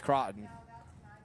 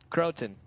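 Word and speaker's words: Crawton: Facebook telling me that it's pronounced crow like the bird and ton like the measurement of weight says oh yeah like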